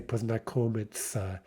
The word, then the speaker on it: познакомиться: You may notice that form познакомиться is also not pronounced exactly as it's written, right? It's written познакомиться, but Russians normally say познакомиться.